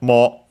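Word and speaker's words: もう: First and foremost, we have mo, which means again. Should be accented on the first syllable.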